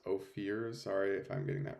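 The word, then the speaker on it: Ohir: is your name pronounced Oar sorry if I'm getting that wrong it's pronounced Oar uh it's spelled o h i r but yeah yeah you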